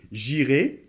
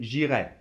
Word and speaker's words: j'irai: Mais bon, le futur, c'est j'irai, tu iras, il ira, nous irons, vous irez, nous irons.